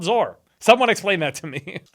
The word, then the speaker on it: Zoar: the town was called zor or zor it's spelled like Sor but with a z z o a r why is that why